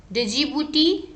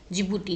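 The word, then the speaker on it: Djibouti: डिजिबूटी, डिजिबूटी, डिजिबूटी, तो इसका आपको कुछ निमोनिक्स याद रखने की जरूरत नहीं है। डिजिबूटी का जिबूटी, जिबूटी है एक्चुअल में, वो डी साइलेंट है, जिबूटी जिबूटी, ठीक है।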